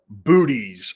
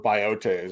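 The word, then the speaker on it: Boötes: let's concentrate on uh booties or biotes I believe is the actual pronunciation of it this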